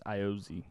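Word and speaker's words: Ayoze: I know it's not pronounced like I think it's Iozi. Iozi? Yeah. Yeah, because they don't pronounce.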